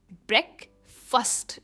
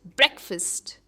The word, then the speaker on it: breakfast: सुबह का नाश्ता, उसे हम कहते हैं ब्रेकफास्ट एंड नॉट फास्ट. भले ही स्पेलिंग में फास्ट है पर हम कहते हैं फर्स्ट, ब्रेकफास्ट.